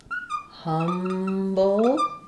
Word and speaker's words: humble: So the word humble. Just like in trouble, we have the syllabic L with the B here at the end. Letter U says the sound, first syllable stress. So we have humble. So I would just think about that like the word hum. And then again, our word bull, but really short on the vowel.